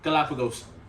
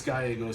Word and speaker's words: Gallegos: Say my fucking last name. Galapagos. Say it right. Geometric symbol. Say it right. Gallon of water. Oh, fuck you. It's Gallegos, sorry.